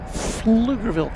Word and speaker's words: Pflugerville: Mark G says how do you all from fun and fantastic Pflugerville, Texas? I think the P is silent. Or the P's are silent.